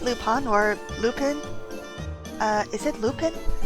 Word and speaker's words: Lupin: He's lupine. And the way Marple pronounced it, it's lupin. This is Arsène Lupin.